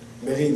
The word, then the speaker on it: Beryl: Hello everybody, my name is Bero. Berid is the way they say my name in French because it's a French name.